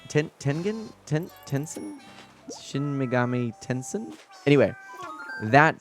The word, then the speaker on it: Tensei: in terms of scope shin megami tensei say intense and i think is how you say it tengen tencen shin megami tencen anyway